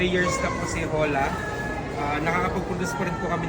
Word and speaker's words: Hola: Hola. Pinopronounce po siya with H. Hola. Hola.